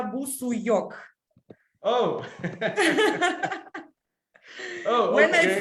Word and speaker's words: Busuioc: I traveled all over the world, and in every country they found a new pronunciation. That's why normally it's Busuyok.